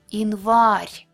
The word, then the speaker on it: январь: When it's unstressed, but not at the end of the word, it will be E. Январь.